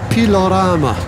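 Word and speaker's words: пилорама: Pilorama. As in pill, with one L. O. Rama. That's the phonetic pronunciation.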